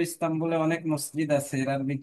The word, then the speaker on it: مساجد: মাসাজিদ উচ্চারণটা ঠিক হচ্ছে না, বুঝছো? মাসাজিদু কাসীরাতুন।